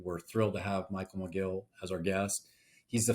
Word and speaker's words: Mogill: We're thrilled to have Michael Mogill as our guest. He's the founder and CEO of CRISP. I got your pronounced your last name right, Michael? Mogill.